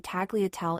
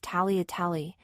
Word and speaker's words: tagliatelle: The proper Italian way to say tagliatelle is tagliatelle, except everyone in my school says tagliatelle instead.